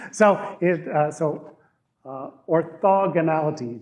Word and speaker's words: orthogonality: it uh so uh orthogonality just put the emphasis also on o and everything else works out right so uh anyway so